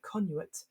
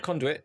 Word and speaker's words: conduit: level feature you get a prehistoric conuat yeah i don't know if that's how you pronounce that but never mind historic conduit yeah yeah conduit okay i just that's how i pronounce it if you uh cast